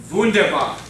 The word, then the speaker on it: Wunderbar: You gotta pronounce that W correctly. Wunderbar.